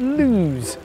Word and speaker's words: Loose: the beautiful village of lose spelt loose but pronounced to rhyme with news the landlord Shaw gets